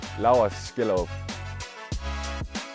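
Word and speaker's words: Laurs Skjellerup: people and fans uh this is how I say my name L skill what does it mean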